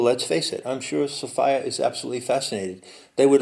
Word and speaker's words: Sophia: again, you see, although it's pronounced Sophia, and it rhymes with desire.